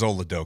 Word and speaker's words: Oladokun: But how the hell do you pronounce your quarterback's name? Chris Oladokun. Oh, it is Oladokun.